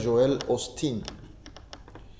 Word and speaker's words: Joel Osteen: Y se pronuncia Joel Osteen, que fue muy popular entre nosotros.